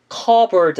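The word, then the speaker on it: cupboard: 발음이 안 들리지 않나요 컵홀더 라고 들릴 것 같은데 저는 지금 커버 월드 라고 했습니다 네 맞습니다 피바람이 묵음 이 되가지고 발음이 나질 않습니다 반드시 터 볼 찬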